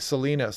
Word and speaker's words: Salinas: down yeah the slight Salinas that's right Salinas I was pronouncing that wrong Salinas River there yeah